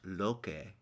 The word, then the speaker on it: Loki: story is of course loki pronounced loke aren't you lokey is the wily trickster